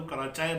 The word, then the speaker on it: کراچی: اور ویسے بھی آپ دیکھیں کہ پشتو تلفظ جو ہے، کراچی کو کیا بولتے ہیں؟ پٹھان اگر ہمارے بھائی بولتے ہیں تو کراچائے بولتے ہیں. کراچائے. اچھا جتنے بھی ہیں وہ نیازے وہ نیازے بولتے ہیں.